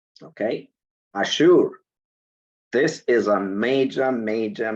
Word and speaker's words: Ashur: So this is the concordance, Ashur, pronounced Ashur.